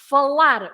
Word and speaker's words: falar: for example folar Etc so you always stress the last part of the verb the the word because it finishes with an R okay so um any